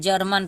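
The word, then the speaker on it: German: पे हम ज बनेंगे ज ग नहीं बोलेंगे ज बोलेंगे तो ज ई आर को हम म पढ़ेंगे सॉरी एम को म पढ़ेंगे और ए एन को न पढ़ेंगे यहां पर हम ऐसे पढ़ते हैं जर्मन पढ़ते हैं ठीक है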